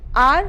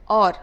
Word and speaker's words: or: of a vowel sound for example are for or you must have found people saying this are that so you are supposed to understand that this are means or so incorrect Arctic articulation